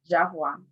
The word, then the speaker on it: Javois: I am Javois. Last name is pronounced Javois.